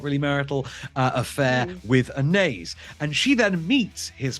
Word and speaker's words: Anaïs: do, and we would have both, we agree, pronounced this as Anaïs in love. But according to the titular character herself within the film, it's Anaïs in love.